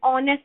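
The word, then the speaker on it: honest: यहाँ पे हमने ऑनेस्ट की बात की, जैसे हमने आगे ओवर की बात की थी, एच साइलेंट है, राइट, तो यहाँ बच क्या गया हमारा?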